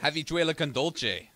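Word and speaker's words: habichuela con dulce: Habituela con dulce. You know what that is? That is beans with chocolate. I'm really happy I pronounced that properly.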